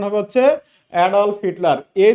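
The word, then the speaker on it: Adolf: একটা বই Hitler অ্যাডফল্ফ Hitler নাম শুনে নাই এডলভ বলি না আমরা একচুয়ালি উচ্চারণ হবে হচ্ছে অডলফ হিটলার এই যে এডফল্ফ হিটলার তিনি কি করেছিলেন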